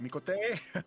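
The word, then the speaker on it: Miqo'te: The Mikot? race. What? Mikote! Mikote! Mikote! Mikote! Mikote! It's like Italian sounding.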